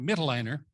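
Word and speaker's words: Mitloehner: Mittelleiner, is how you say his name, Frank Mittelleiner from UC Davis.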